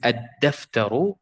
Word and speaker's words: الدفتر: So here it's ad-daftaru, and it's shamsiyya. So we have shadda here and sukun here. Ad-daftaru, because it's dal and it's one of these letters.